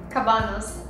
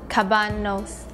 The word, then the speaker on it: kabanos: So how can I pronounce it? Cabanos. Cabanos.